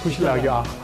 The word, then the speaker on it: खुसी लाग्यो: Better Kushlagyo. Thank you Honor to meet you. Is it right pronunciation? Better right? Better Kushlagyo? खुसी लाग्यो Kushlagyo. एकदम राम्रो धेरै राम्रो 네팔의 유일한 억만장자 라면왕 초드리.